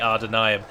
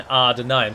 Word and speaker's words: Ar-Adûnâim: And it is pronounced R with a rolled R and then Ar-Adûnâim. So it sounds like it's AR-AR, but it's not. You just pronounce the A as an R sound. So as if there is an R behind it, but then you soften it a bit.